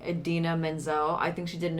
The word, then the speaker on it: Idina Menzel: I don't know what exactly he said, but he completely butchered her name. Oh, Butchered it. So when awful. when you got it right, I just totally thought about that. Yes, Idina Menzel.